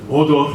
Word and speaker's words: Mordor: The mountains of Mordor, you have to roll your R's at that bit, are looming large.